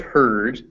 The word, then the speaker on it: herd: Beware of herd, a dreadful word that looks like beard and sounds like bird.